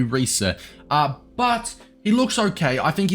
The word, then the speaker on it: Riise: Next up, I believe it's pronounced Riise. I'm pretty sure it's just like Riise. I think it might be Riise.